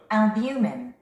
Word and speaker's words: albumin: 근데 원어민들은 이렇게 발음하죠. albumin. albumin. albumin 또는 albumin 또는 albumin 발음이 여러 가지로 발음하고 있습니다, 여러분들.